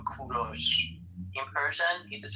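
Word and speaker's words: کوروش: English people call him Cyrus. But in Persian we call him Kuros.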